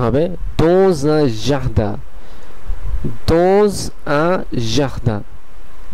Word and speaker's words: dans un jardin: যেহেতু এই দ্বিতীয় শব্দের প্রথম কনসোনেন্টটি অথবা প্রথম বর্ণটি উ এবং প্রথম শব্দের শেষের কনসোনেন্টটি এস, সেই কারণে এসটি জেড এর উচ্চারণ হয়ে এটির সঙ্গে সংযোগ স্থাপন করবে।